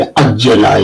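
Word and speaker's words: عجّل: So you can see the difference between Ajila and Ajjala is that Jim is pronounced twice in the second word, and so on.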